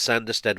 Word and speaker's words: Sanderstead: the Bingham Road one I think it's sanderstead with a short a that's how the announcement